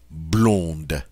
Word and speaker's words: blonde: The feminine form, however, is going to sound different because I'm going to get to pronounce that D now. Blonde.